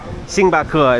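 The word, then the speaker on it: 星巴克: a million of them sing bakur is how you say in Chinese sing bakur but I'm going to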